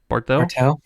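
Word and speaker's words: Barthel: How do you pronounce his last name? Bartel.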